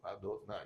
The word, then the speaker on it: Adonai: Agora, quando ele está escrito, a gente não pronuncia ele ipsis literis, a gente pronuncia ele Adô, depois Nai, Adô, né, que é o nome de Deus.